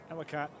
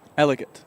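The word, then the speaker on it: Ellicott: Elott. No. How do I say this? This isn't the Maryland word I pronounced wrong. Elott. How do you say it correctly? Elicate.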